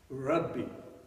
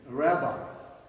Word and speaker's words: Rabbi: And then somebody came up to him and he said, Lord, they called him Rabbi. Rabbi in Hebrew means teacher. You know, you're familiar with the pronunciation rabbi. That's the wrong pronunciation.